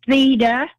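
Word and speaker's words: Theda: So if you would say the first name and spell it for me. It's Theta, T-H-E-D-A.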